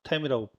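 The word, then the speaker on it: TEM: 주사 전자 연미경 그 두 번째 배웠던게 TM이죠. 템이라고 배 발음하는데 샘에 대해서 배웠고 템에 대해서 배웠 템은 트랜스미션 일렉트론 마이크로스코피로 한국말하면 추가 전자 협경이에요.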